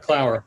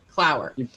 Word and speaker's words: Clower: You did it right, Clower. It's like hour or flower or power. Perfect. Clower.